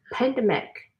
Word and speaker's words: pandemic: You notice how the stress, there's the syllable of each of these words, the stress can be different. Where you instead of saying pandemic, you say pandemic. So the stress is in the middle of the word here. Pandemic. Has 3 syllables.